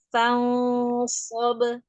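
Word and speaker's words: فانصب: Fansob, so, huruf-huruf sod. Fansob. So-nya yang angkat, so-nya yang kurang angkat. Jangan sobe, tapi so. Nah, Fansob.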